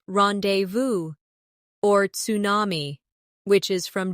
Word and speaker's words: rendezvous: For example, the word rendezvous comes from French and is pronounced rendezvous or tsunami, which is from Japanese.